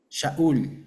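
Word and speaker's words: שָׁאוּל: Ya ustedes se acuerdan cómo se dice Saúl en hebreo. ¿Quién se acuerda? Sú. Shaúl. Exacto.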